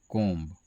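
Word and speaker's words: comb: तो इसका उच्चारण क्या होता है? कोम।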